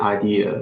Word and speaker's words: idea: he's he's talking about the common mistakes that people tend to make is when we pronounce the word idea we tend to plus the r sound at the end of the word so it becomes idea so if it was the Arsenal at the end of the word it's probably not correct foreign okay um that